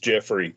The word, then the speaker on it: Geoffrey: As far as I know, it's pronounced Jeffrey. But what's funny, he spells it Geoffrey. I've always pronounced that Goffrey in my head just to differentiate in my head, so I keep it straight.